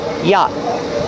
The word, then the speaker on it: yacht: The t is a stop t at the end after the vowel. yacht. Yacht. Stop the air with your tongue.